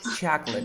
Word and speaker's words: chocolate: never eaten chocolate chip chocolate chocolate yes two syllables amazing okay but now